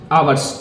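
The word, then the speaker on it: hours: 18 meals dot डॉट आवर्स, ठीक है। इसको आवर्स पढ़ा जाता है, यानी कि आगे ए ई आई ओ यू आता है, ओ मतलब पढ़ा जाता है, एच जो है वो साइलेंट होता है।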